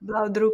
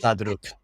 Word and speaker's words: Blaudruck: Is that pronounced Mm. correctly? Blauwdruk, And blauwdruk. Blaudruck.